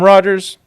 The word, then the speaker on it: Rogers: My name is Rogers. It does, believe it or not, rhyme with LA Dodgers.